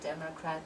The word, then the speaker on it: Democrat: you're going to see photograph Telegraph Democrat there three syllable words the stress and all of those is going to be on the first syllable so they're going to